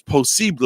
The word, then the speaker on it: posible: Anything is posible, as they say it in Español. Yeah. Posible en español. Posible. Is how you say possible in Spanish.